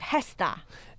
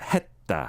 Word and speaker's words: 했다: Yeah, this 했다, you don't really pronounce the 쌍시옷 here, like 했다. It's like a T almost, right? 했다. 했다.